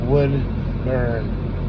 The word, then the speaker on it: Woodburn: How it sounds, spell it the way it is. Woodburn. Like you burn some wood.